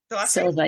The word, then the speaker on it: Silva: Is it Silva? Silva, yes.